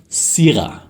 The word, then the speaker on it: Syrah: You have criticized my way of pronouncing Syrah in the past, and I've practiced. So here it comes, Syrah.